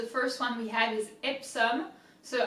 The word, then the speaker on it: Epsom: one we have is ipsum so i do think that it's similar to english i've actually never heard